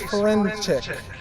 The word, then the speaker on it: Ferenchik: Now please join me in welcoming Grace Ferenchik, Student Body Vice President, for our closing remarks.